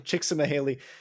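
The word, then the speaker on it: Csikszentmihalyi: of mahali first names Mi Haley last name chicsa mahali spelled c-z-i-k-s-z-e-n-t-m-i-h-a-l-y-i that is beautiful that's like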